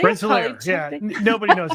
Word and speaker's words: Rensselaer: Rensselaer, yeah.